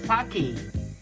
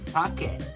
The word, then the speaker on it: sake: And also, this is not sake. But this is sake.